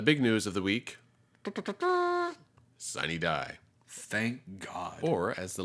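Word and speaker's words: sine die: to pronounce them but in a state where we've got cities like Prague in Miami I'm not surprised that we might say sunny die it is where we say signee die and not just sign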